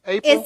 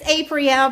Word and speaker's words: Apriel: April. It's Apriel. But April is good.